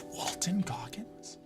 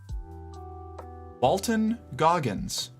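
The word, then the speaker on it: Walton Goggins: It's Walton Gogggins. No way. Oh my god, it is. I've been saying his name wrong this whole time. Walton Gogggins.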